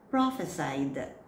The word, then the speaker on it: prophesied: This is from the word prophesy, so it is pronounced as prophesied.